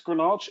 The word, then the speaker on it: Greenhalgh: Anybody who's Welsh, it will be totally intuitive that it's Greenhalgh. Anybody who's not Welsh will wonder how we got that pronunciation, but we're happy to have David with